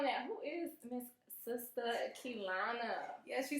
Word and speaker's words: Keilana: I don't know where y'all see the other It's Keilana, yes. They want to use that I.